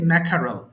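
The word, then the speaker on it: mackerel: আপনি ম্যাকারেল বলতে পারেন যদিও মেখারাল লেখা আছে কিন্তু রটা আকারে সাউন্ডটা পুরো রাল হবে না এটা সিম্পলি ম্যাখারল ম্যাকার ম্যাকার সামুদ্রিক মাছ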